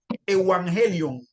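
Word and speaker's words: εὐαγγέλιον: evangelio porque o sea, la latinización del término griego en vez de pronunciarlo como u, se empezó a pronunciarse como como v. Entonces el término es evangelion.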